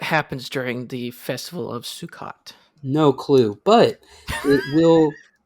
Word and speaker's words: Sukkot: be mispronouncing this, but we have the Jewish Sukkot. Yes, you most assuredly are Wait, let me try mispronouncing again. that word. That is Sukkot.